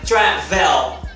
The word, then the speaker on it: travel: Ou seja, esse E entre o V e o L tem um schwa, ou seja, você não pronuncia o E. O som do final dessa palavra é feito a partir do V e do L juntos.